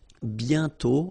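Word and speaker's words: bientôt: and then okay remember you put this aent circlex but you don't write it oh you sorry you write it but you don't pronounce it and then the final day is not pronounced bio okay and then you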